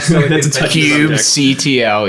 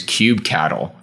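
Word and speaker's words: kubectl: Well, I did hear that cube control, or however your preferred way of saying that word, cube CTL. Yes, I did hear that pronounced as cube cattle this week, which is taking that to a whole nother level.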